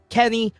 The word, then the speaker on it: Kenny: Kenny rhymes with carry, so it is expected for Ultra Rare Esports.